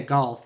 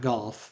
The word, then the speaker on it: Goth: I mispronounced that, but it's Mia Goth, not Golf, but Mia Goth is